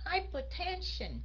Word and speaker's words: hypertension: áp huyết cao đó thì mình nhấn dầ hai dầ ba luôn hypertension hypertension nghĩa là mình